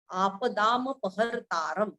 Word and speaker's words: आपदामपहर्तारं: आपदामपहर्तारं, आ दीर्घ, दा दीर्घ, आपदामपहर्तारं. पहरतानंतर र वर चा असणारे अनुस्वारचं उच्चारण न, कारण पुढे द आलेला आहे म्हणून.